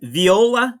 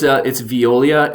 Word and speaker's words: Veolia: And again, Viola, is that how it's pronounced? Yeah, it's Veolia.